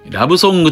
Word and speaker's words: 島の歌声: 本編の 298 話では、島の歌声と書いてラブソングと読ませており、その